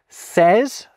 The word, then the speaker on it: says: I think mart is a maybe says perhaps you definitely don't pronounce the y. Not unless you're being excessively precise saying says, but if you take it away, you get saz, not says.